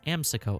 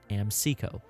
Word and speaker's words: Amseco: the brand name as amsiko and not amseco amsico stands for the american security equipment company the word is pronounced